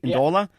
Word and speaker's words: Ndola: Did I pronounce it right? Ndola?